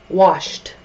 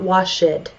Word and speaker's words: washed: to be the case however when we're talking about the past tense and we're adding Edie washed washed it's not wash it washed okay it's a rule breaker